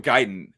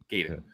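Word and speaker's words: Gaiden: was became learned and found out it's pronounce giden and not gayen but it wasn't even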